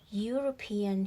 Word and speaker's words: European: and use this skill european here like starts with the letter y again european right so listen to it a european eu which is a is a consonant okay y all right it